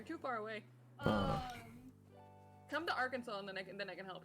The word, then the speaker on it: Arkansas: Okay, so fun fact, literally in Little Rock, in proper Little Rock, it's illegal to say it like that. It's a state name. It's illegal. Are they gonna arrest you for speaking? Yes! They can't do that. It's considered defamation of the state's name.